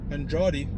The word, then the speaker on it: Andrade: Okay, there's a book put together by Jacob Andrade, some people pronounce it. That's how Kamala pronounced it, but I pronounce it Andrade because that's my middle name.